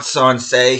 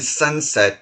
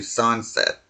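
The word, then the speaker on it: Sancet: It's not Sansé. He has no French lineage about him whatsoever. It sounds like you're saying sunset, but it's actually Sunset.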